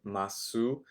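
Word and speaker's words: ます: masu. Um, not really. We don't really say that so much in Japanese. We just kind of drop the ooh sound and it's just okay.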